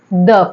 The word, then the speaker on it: the: हम आते हैं हमारे द पे ठीक है तो पहले मैं आपको ये क्लियर करती हूं कि टी एच ई को हम कब द और टी एच ई को हम कब दी प्रोनाउंस करते हैं तो जब टी